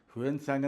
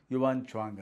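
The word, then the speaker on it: 玄奘: ಹ್ಯುಯೆನ್ ತ್ಸಾಂಗ್ ಅಂತ ಹಿಂದೆ ಹೇಳ್ತಾ ಇದ್ದರು, ಸರಿಯಾದ ಉಚ್ಚಾರಣೆ ಯುವಾನ್ ಚ್ವಾಂಗ್ ಅಂತ.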